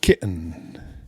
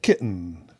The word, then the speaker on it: kitten: We don't even pronounce the E in kitten.